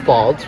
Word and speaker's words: Falls: nee Falls, because it is pronounced Falls, right? Yeah, it's that not is correct. Folds. No, it's Falls. It is Falls.